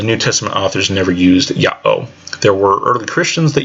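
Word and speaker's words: Ιαω: In Greek of the time, it would be Iota, Alpha, Omega, and that would be 2 syllables. Yah-oh, split at the iota, alpha, and the omega.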